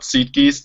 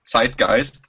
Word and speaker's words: Zeitgeist: It's not Zeitgeist, it's Zeitgeist and Ruhepuls.